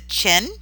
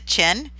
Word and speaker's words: Qin: about a third dynasty this one is pronounced the Qin I know how do you get it out of Q but that's what it's called the Qin and you can see